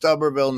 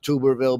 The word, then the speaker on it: Tuberville: it's terribly terribly inconvenient it's pronounced tuberville not tuberville because I was gonna have